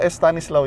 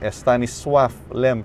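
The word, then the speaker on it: Stanisław Lem: a calico a Stanislaw LEM pero hindi paula Estanislao un s Tiny's suave young s le double helices slow s w AF Pallenberg pronounced swath a imagine Panamanian Estanislao Palin is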